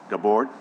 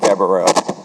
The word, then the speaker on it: Gabrielle: Eric Gabord, or is it Gabrielle? Just give me the correct pronunciation. Eric Gabrielle. Gabrielle.